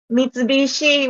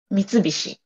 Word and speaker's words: Mitsubishi: niacin or whatever um Mitsubishi would be in English and Mitsubishi is in Japanese okay and Toyota is